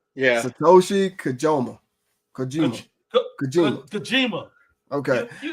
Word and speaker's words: Satoshi: you did okay yeah that's literally pronounced like it sounds Satoshi yeah Satoshi Kaja Kima Kima Kima